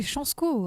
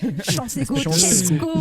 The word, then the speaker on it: Chansko: Big up à Chansko. C'est Chansko, arrêtez de prononcer ça n'importe comment. Chansko.